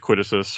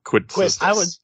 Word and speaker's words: Quistis: time with Quitisus or however you Quistis. I'm Quitus. making a joke, by the way. The S is not Professor.